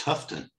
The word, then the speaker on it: Horton: Horton is the name of the premier family in Corning, and they're from England, and over in England that is pronounced Houghton.